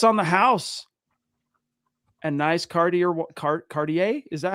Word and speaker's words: Cartier: And nice Cartier car- Cartier? Is that how you say it? Watch? Yeah, Cartier.